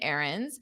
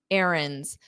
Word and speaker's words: errands: Remember, this is the context of chores and errands. So you run errands. Errand is a noun. Now, notice how I don't pronounce that D. Errands, errands. It's just a dropped sound.